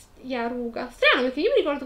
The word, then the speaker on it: Yaruga: I miei uomini riferiscono le truppe in marcia pronte a quadrare lo Yuraga. Yaruga. Strano, perché io mi ricordo che nel libro si scriveva con la J.